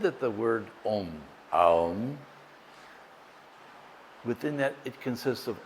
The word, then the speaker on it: Om: Many of us pronounce it as om thinking it's om. In Sanskrit it's actually made of three letters a ma and then there's a